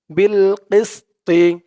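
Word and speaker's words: بِالْقِسْطِ: দিয়ে এলাম ধরবে বিল বিল কিস বিল কিস বিল কিস্তি এই ত চিহ্ন হতে থামলে উচ্চারণ করতে হবে বিল কিস্ত বিল কিস্ত তর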